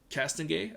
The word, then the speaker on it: Castonguay: Then we had a new assistant GM, Emily Castonguay, I believe is how you say her name.